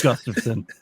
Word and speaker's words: Gustafsson: It's Gustafsson.